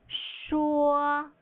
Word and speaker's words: 说: You should sound like you're thinking when you say to speak in Chinese. Think this way. When you pronounce the first tone, the high-pitched and flat tone in Chinese, you are singing.